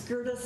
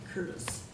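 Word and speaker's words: Gerdes: if we may please my last name is spelled differently it's g-e-r-d-e-s and not kurt it's gertis instead of curtis oh apologies very common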